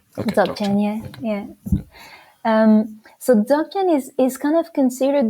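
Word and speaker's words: Dzogchen: lead to dog chain is it dochan not Z Chan Zan I've been mispronouncing have I been mispronouncing it though that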